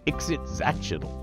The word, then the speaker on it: Ixitxachitl: rays known as the exit zatchetal yes that's how you pronounce them with the emphasis the emphasis the emphasis on the Zatch just remember that it's